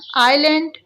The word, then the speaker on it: island: Island, S is silent over here.